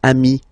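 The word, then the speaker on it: amis: s here okay but then technically you pronounce it the same way so singular form am plural form you add this s but it's Ami as well okay in that case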